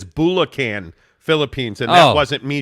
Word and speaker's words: Bulacan: Greg also clarified your pronunciation. He said it's Bulacan, Philippines, and that wasn't me, Jake.